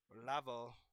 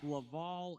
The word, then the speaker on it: Laval: Lavo versus Belleview or B. Is it Bell? You really butchered both of those. I don't care. It's Laval and Belleville.